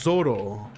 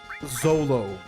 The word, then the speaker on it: Zoro: Like it's Zoro, but it because of Japanese it ends up sounding like Zolo.